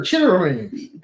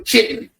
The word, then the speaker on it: chitterlings: I'm like, what are chitterlings? They said chitterlings too? No. Because they were chitlins. Chitlins. Yeah, chitlins. But I'm white, now they're chitterlings. Sure. Exactly how it's spelled on the bucket.